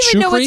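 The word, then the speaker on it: Czuchry: that's true how do you know how to pronounce that shukri pool Logan Matt shukri charcuterie Wow we are 14 minutes into this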